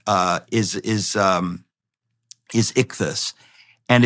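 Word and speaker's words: ἰχθύς: word for fish uh is is um is ichthus and it's spelled um you know it's an acronym well the word is ichthys so but the early Christians adopted that symbol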